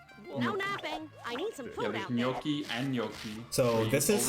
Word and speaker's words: gnocchi: pronounce it which is the way that I heard a lot of my older Italian thing I pronounce it and Yoki and then there's uh there's like four different pronunciations of the word and they're all right in different dialects it smells good and